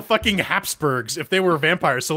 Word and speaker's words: VEmpire: This is VEmpire, or Vampire, as they spell it out. It's Vampire.